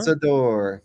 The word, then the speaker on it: Lanzador: But speaking of supercar, also the long-awaited Lamborghini, how do you pronounce that? Lanzador? Lanzador.